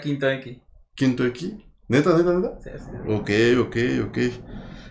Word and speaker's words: V Enki: ¿Cómo se pronuncia, güey? Porque, o sea, sí se pronuncia tal cual Benki, güey, porque escribe V, ¿no? Espacio Enki, güey. ¿Cómo es que se pronuncia? Se pronuncia Quinto Enki.